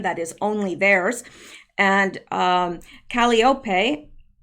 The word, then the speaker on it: Calliope: And Calliope, I believe is how you pronounce that. Lots of people told me I pronounced it incorrectly in the last video I mentioned this in. So I think that is correct, Calliope.